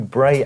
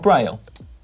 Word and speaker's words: braille: issues of the new bray advertisements on the barriers there you go is it not braille yes it is yeah i just said it wrong there we go um